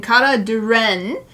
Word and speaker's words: Kara Di'ren: this OC K and I verified the pronunciation K Duren is the pronunciation of this is my